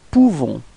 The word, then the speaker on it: pouvons: Nous pouvons. Okay, so you write this O-U and you pronounce it OU, okay, so if you combine it, you nous pouvons, okay, you don't pronounce the final S.